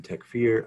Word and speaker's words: takfir: and that's then the egyptian tech fear i'm sorry egyptian pronunciation the words techfear then those who we